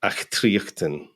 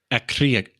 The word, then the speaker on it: Achtriochtan: Yeah, Achtriochtan. Achtriochtan. So yeah, it's got a very Scottish guttural sound to it. Yeah, Achtriochtan.